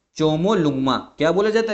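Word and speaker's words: ཇོ་མོ་གླང་མ: आपका mount Everest को हम लोग बोलते हैं चोमो लुमा क्या बोला जाता है चोमो लुंग मा चोमो लुंग मा ये ध्यान रखना और नेपाल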